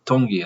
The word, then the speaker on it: Tongi: Tongi, I think. It's pronounced kind of like with a hard D, he was saying.